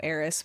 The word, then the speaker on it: HERIS: And you guys know HERIS, we pronounce it like that. We also love that it's a play on her and is, because we talked about